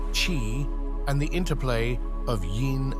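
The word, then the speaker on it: qi: balance of vital energies known as Ki pronounced Chi and the interplay of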